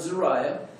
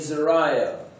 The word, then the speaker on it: Zeruiah: Zeruiah is, I think, the way that we would pronounce it. David had a sister named Zeruiah.